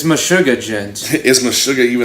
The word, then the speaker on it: djent: djent djent is noticeable hi spillage it happen deejay ent how do you how do you how do you pronounce that okay gent is a sub-genre of progressive metal named for